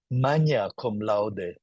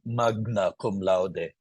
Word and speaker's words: magna cum laude: GN is always enye, like magna cum laude. Someone who didn't learn Latin will say magna cum laude.